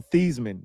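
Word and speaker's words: Thuney: Hey Joe Thyman. His name is really Joe Thman. He said it rhymed with and so he just went with Thman.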